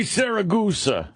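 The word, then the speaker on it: Siragusa: Tony Saragusa, right? Yeah. Tony Saragusa.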